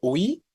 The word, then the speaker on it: huí: La palabra huí, para algunos de ustedes, podría parecer que la I es tónica, ¿no? Y sí, por la forma en la que lo pronunciamos, la I está sonando fuerte.